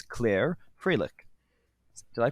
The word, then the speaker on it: Froelich: a former japanese translator and interpreter it's claire fralick did i pronounce that right spot-on spot-on you pronounce it